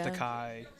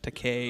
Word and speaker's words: Takei: your questions and george takai no to k i'm sorry george takei because it rhymes with toupee ty i remember that's